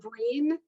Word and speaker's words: Breen: So you would think, Breen seems simple, like it rhymes with green, but no one gets it right.